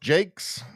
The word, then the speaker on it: Jacques: Rosie says Jacques pronounced Jake. Uh so the Jason Jakes. Yeah I thought it was Jacques at first too but it actually is pronounced Jake.